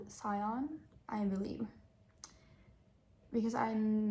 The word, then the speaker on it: scion: So I think I always said I said skyen but it's written s c i o n so I believe it's scion.